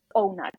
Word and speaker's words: Ohnut: Another thing is, if depth of penetration is painful for you, using something such as O-Nut. It's OHNUT. N-U-T, literally how it's spelled.